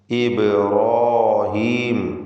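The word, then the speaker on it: إبراهيم: വദ്കുർ ഫിൽ കിതാബി ഇബ്രാഹീം. ഈ പദത്തിൽ ബഇൻ്റെ സുക്കൂൻ ഖൽഖല സുഗ്റ നൽകി ശബ്ദം ഹറക്കത്ത് പോലെ ചലിപ്പിക്കണം. ഇബ്രാഹീം, റാഇനും അതിൻ്റെ ദീർഘാക്ഷരമായ അലിഫിനും തഫ്ഖീം കൊടുക്കണം, തടിപ്പിച്ച് ഉച്ചരിക്കുക.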